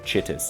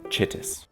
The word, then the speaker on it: Chitus: emperor I'm not kidding his name is actually pronounced chitus you can find some graffiti in the actual game and it's read aloud to you and it's pronounced chitis Captain Alaris remain in the warehouse until I